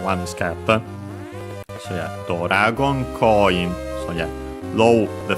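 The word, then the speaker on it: ドラゴン: First and foremost, Doragon. As you have seen, accented on the do, so be careful, unlike in English.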